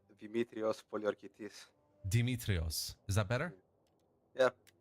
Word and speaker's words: Demetrios Poliorketes: Can you remind me how it's pronounced? Demetrios Poliokertes.